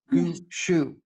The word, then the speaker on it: Gushue: Gushue. Gushue. I got it wrong. She corrected my pronunciation, and I got the correction wrong. Gushue.